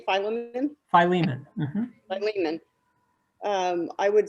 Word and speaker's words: Philemon: more because Paul did all these things and Philemon did nothing, right.